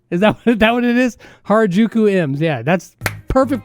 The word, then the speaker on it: Harajuku: Harajuku M's. Yeah, that's perfect pronunciation.